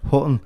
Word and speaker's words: Hutton: tattoo fixer himself, Jay Hutton. Is that how I pronounce it? Hutton. Yeah. It's like Buch and Buch. Yeah, it's the Liverpool way of saying it.